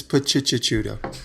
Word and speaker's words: Picciuto: No, it's Picciuto. Okay. That's the right way to say it.